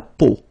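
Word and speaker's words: peau: see it's but then so the sound that you will have to pronounce when you've got the these three vowels combined together, it's the sound o. Okay, so really simple o.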